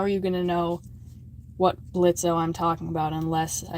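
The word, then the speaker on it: Blitzø: Yeah, before you freak out saying the O is silent, how are you gonna know what Blitzo I'm talking about unless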